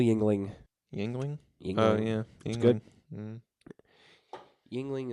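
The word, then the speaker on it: Yuengling: Yingling Yingling oh yeah Yingling is neither spelled Ying no Ling the Ling is spelled correctly the Ying is spelled really strangely y e y u n g l i n g that's Ying Wing it's a little song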